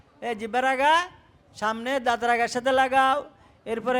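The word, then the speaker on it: ثاء: উচ্চারণ শিখাবো কেমন এভাবে সাটা নরম করে উচ্চারণ হবে শক্ত যাতে না হয় শক্ত হলে সেটা সিনের উচ্চারণ হয়ে যাবে সিনের উচ্চারণ হলে সেটার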